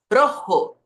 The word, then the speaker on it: rojo: e não é R lembre que o o não vira u no final de palavra então Rojo Rojo que é a